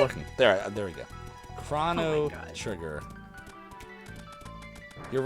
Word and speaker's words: Chrono Trigger: pronunciation has won uh 24 of you think that it's Crono trigger and six of you have it correct Chrono Trigger So 20% of uh twitch viewers pronounce it the right way of Chrono Trigger man I